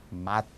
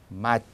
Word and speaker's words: мать: 어머니도 만약에 미아키즈나크가 없다면 마트 이렇게 됐을 겁니다. 실제로 마트라는 단어는 욕설 그런 뜻입니다. 근데 거기에 미아키즈나크가 붙어 있거든요. 미아키즈나가 붙어서 발음은 마치, 마치. 그러니까 때 발음이 때가 아니라 띠 이렇게 나는 거죠.